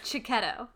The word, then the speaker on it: Chiccehitto: Because I saw that on your website and wanted to ask you how to pronounce that. It's Chiccehitto. Chiccehitto.